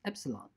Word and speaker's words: epsilon: epsilon this is pronounced beta and this is pronounced epsilon by the way this comes from the Greek